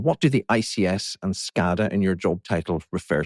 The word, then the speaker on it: SCADA: The acronym just to be clear, industrial control systems, so for the IC side and we pronounce it over in the states as SCADA.